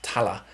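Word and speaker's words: Thaler: dollar apparently which was how the locals were pronounced tala like dollar.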